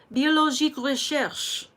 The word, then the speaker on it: Biologique Recherche: This is the Biologique Recherche. That's the name of the company. It's French. Use your best French accent. Biologique Recherche. Say it with me. Biologique Recherche. Okay? That's how you say it.